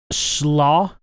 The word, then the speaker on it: Slö: on this guitar because this slaw i guess is how it's actually pronounced but i like to call it a slow walrus because it's just it's